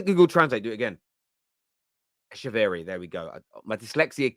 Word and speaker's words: Echeverri: and I need to use Google Translate to pronounce his name correctly. Claudio, is it? I'm going to Google Translate, do it again. Echeverri, there we go.